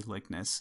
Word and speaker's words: Likness: and I'm going to a lot of people AR aren't sure how to pronounce my last name but it's j r m y l i k n SS lickness and that is a